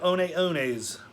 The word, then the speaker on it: Hoka One One: Hoka One Ones, that's the name of a shoe. It looks like it would say 1-1 if you were reading it in English, but the name isn't in English, and it's pronounced One One.